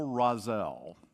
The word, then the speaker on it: Rozelle: The first pastor was named Excel Rozelle, right? So that's like, what a name. It's like, it rhymes.